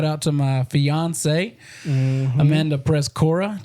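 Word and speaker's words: Przekora: 2 syllables. Don't put 3 syllables in it because we'll fight you. We won't fight you. How do people? Prescora. Oh, Prezcora. Prezcora. Yeah. Ah, Yeah. Prezcora. Yes, Prez. Like the president. P-R-Z-E. Yeah. Cora.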